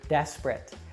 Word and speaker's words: desperate: look at the word desperate now the stress falls on the first syllable deaths and the other two syllables we actually reduce and pronounce with that uh schwa sound and the same